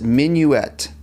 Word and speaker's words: minuet: You pronounce it minuet.